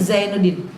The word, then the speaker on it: Zainuddin: Jajauhum jaza jaza ja ji ju baj za zi zu baz unzila anzala ya itu mengucapkan zai seperti Zainuddin. Bapak Ibu hadirin sekalian tibalah saatnya kita dengarkan tausiah agama yang akan disampaikan oleh almukarram Bapak K.